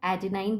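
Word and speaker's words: adenine: सो we said that nitrogenous bases में purine होता है, एडेनाइन बोलते हैं इसको, या कुछ लोग एडेनिन भी प्रोनाउंस करते हैं।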